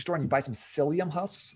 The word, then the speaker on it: psyllium: If you just go to your grocery store and you buy some psyllium husks, spelled with a P, P-S-Y-L-L-I-U-M, psyllium husks, and you just take a scoop of that.